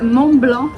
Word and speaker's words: Mont-Blanc: mon blanc en plus il le prononce à la française Mont-Blanc alors il faut savoir